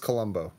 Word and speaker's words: Colomby: Played by Scott Colomby. Is he Colomby? What is that? Columbus? What is that? Colomby? Yeah. It's pronounced Columbo.